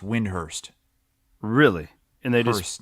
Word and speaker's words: Windhorst: NBA uh yeah Brian windhorst he said it's actually pronounced Windhurst really and they just